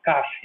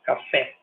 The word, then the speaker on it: café: português como psaro eh por que que eu assento café porque eu não falo Cafe né eu falo café eh eh então assim